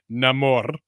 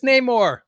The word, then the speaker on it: Namor: And I don't want to pronounce it like they did in the movie, so I'm not going to say Namor. It's Namor.